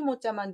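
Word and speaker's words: 模: 그래서 발음이 막 발음이 모 발음이 되기 때문에 발음을 좀 주의하셔야 될 것 같고, 나무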